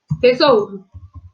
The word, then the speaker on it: tesouro: Então, vocês tinham que escrever tesouro. Tesouro se escreve com a letra S. O S tem o som de Z nesse caso, porque ele está entre duas vogais.